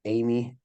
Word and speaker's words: Emigh: is kind of tricky it's pronounced Amy like the girl's name but it's spelled e m g h and yeah if